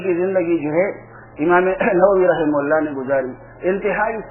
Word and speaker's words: نووی: پنجاب کے پروفیسر صاحب ہیں، بڑے مناظر ہیں، نام نہیں لیتا، وہ جو امام نووی رحمہ اللہ کو کیا کہتے تھے؟ امام نودی.